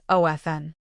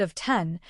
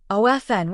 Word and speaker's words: often: The most common and accepted pronunciation is of Fn. However, a trend has emerged where people have started reintroducing the T sound, making it of 10, perhaps thinking it sounds more correct or formal.